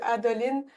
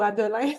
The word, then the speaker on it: Adolin: chapitre après chapitre puis adoline ou adolin je sais pas comment le prononcer on peut dire adolin juste pour la différence CLA adolin à côté qui